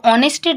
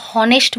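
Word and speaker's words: honest: কিন্তু যখন আমরা অনেস্ট উচ্চারণ করি আমরা হনেস্ট বলি না, আমরা অনেস্ট বলি, অর্থাৎ এইচটা এখানে সাইলেন্ট থাকে, অর্থাৎ এইচের উচ্চারণটা আমরা করি না, আমরা ডাইরেক্ট ও এর উচ্চারণটা করি।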